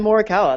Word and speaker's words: Morikawa: And for our esteemed guests, we have Morikawa. Yep. Good morning. Yeah. I didn't ask you if I pronounced your name right, so was that Yeah, all that's right. Morikawa.